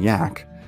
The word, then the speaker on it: Jack: begrudgingly respectful nicknames of Captain Jack pronounced Captain yak and Bravo too much